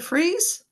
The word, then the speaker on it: Friis: Is it Friis?